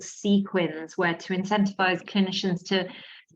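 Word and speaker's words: CQUINs: And I don't know if that, yes, Abby's written sequins like with S. Yeah, it's pronounced that way, but it's C-Q-U-I-N-S.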